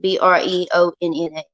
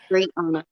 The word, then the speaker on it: Breonna: BREONNA. Yeah. Hold up. Let me see. It's BREONNA. Brianna. Yes, it's spelled like it's pronounced.